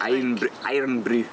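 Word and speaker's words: Irn-Bru: Iron Brew.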